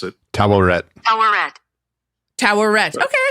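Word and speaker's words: Taweret: attributes pendulous female human oh that's how you pronounce it toet toet Tower Red okay I S I saying it right yeah Tower Red all right so Tower Red I was just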